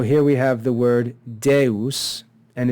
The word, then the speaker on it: Deus: we have the word Deus and it's important to note here that this is not a diphthong it's two syllables de us we have the short